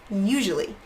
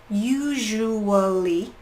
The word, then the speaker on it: usually: ways you can say usually use you you usually four syllables or you can say like most native speakers will which is a little bit more reduced a little bit faster maybe it sounds a little